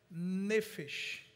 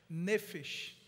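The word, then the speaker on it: נפש: A palavra hebraica que comunica vida, alma, ela é uma palavrinha que a gente pronuncia, chamada nefesh. Repete, nefesh. Nefesh. Ou nefesh, pode ser também.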